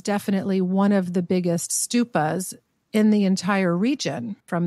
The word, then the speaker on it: stupa: Yeah, and I realized that I called it stupa instead of stupa. I don't know why. That was the Yiddish pronunciation.